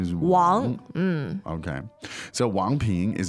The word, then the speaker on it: 王: Sometimes pronounced Wang in the States. But it's But pretty the off. proper way of doing it Proper is pronunciation is Wang.